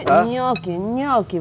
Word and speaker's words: gnocchi: Gnocchi, gnocchi, right? Gnocchi. Gnocchi. You gotta pronounce it that age.